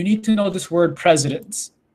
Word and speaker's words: precedents: to know this word presidents it's pronounced like president of the united states but it's spelled differently with a ce so